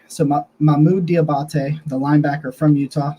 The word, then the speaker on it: Mohamoud: linebacker out of Utah and his name is pronounced here we go we're gonna do this you ready mahmoude so Mamu diabate the linebacker from Utah started out over